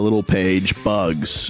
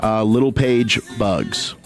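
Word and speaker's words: Littlepage-Buggs: Littlepage Bugs. Her last name is Little Page Bugs. Littlepage-Bugs. It's like little Jordan Humphrey.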